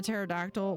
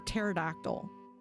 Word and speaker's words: pterodactyl: read is called, uh, P for P for pterodactyl. It's all about books that it's all about words that the first letter is silent.